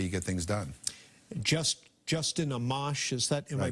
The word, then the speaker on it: Amash: Justin Amash, is that, am I pronouncing that correctly?